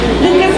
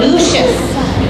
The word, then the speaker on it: Lucius: Pardon me, I pronounced his name wrong. It's Lucius.